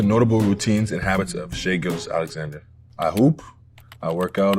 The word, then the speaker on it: Shai Gilgeous-Alexander: Well, Shai Gilgeous-Alexander. I know some people say Shai. It's definitely Shai. The confusing part is probably the Gilgeous, so it's Gilgeous.